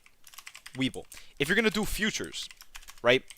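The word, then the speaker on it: Webull: Weeble right it's called It's pronounced like this like uh for options Weeble if you're going to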